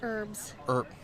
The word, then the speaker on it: herbs: Herbs. Herbs. Herbs. Herbs. Herbs. The H is silent.